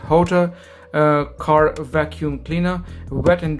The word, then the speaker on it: Hotor: there we go so this is the hooter I'm sorry the quarter that's what yeah that's how you pronounce it Jota car vacuum cleaner wet